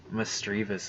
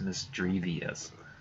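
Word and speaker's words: Misdreavus: making that mistake, but I used to call Miss Drivas Miss Drevius. Like if it had an I in the back of the word. Like I always pronounced it like there was two I's instead of one, so.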